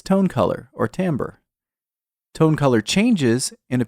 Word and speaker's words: timbre: It's spelled like timber, but we pronounce it timbre.